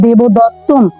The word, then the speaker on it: দেবদত্তম: দ তৈয় ত এবার শব্দের শেষে যেহেতু অনুস্বর তাহলে অবশ্যই উচ্চারণ হবে দেবদত্তম অর্থাৎ ময় হসন্ত দিতে